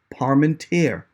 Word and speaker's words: Parmenter: palm and tear and i have never pronounced your name wrong my friend so um i'm not one of those parmesan pomeranian people who refuse to just learn it and it's not difficult it's just parmenter parm and tear it's